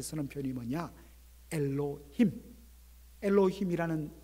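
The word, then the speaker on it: אלוהים: A번, 히브리어 성경을 보면 천사라는 말의 히브리어 단어가 발음을 이렇게 할 수 있습니다. 엘로힘, 따라해 볼까요?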